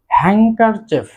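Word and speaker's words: handkerchief: তারপর রয়েছে হ্যাঙ্কারচেফ, হ্যাঙ্কারচেফ রুমাল। এখানেও কিন্তু ডি লেটারটি সাইলেন্ট থাকবে। দেন রয়েছে ব্রিজ, ব্রিজ।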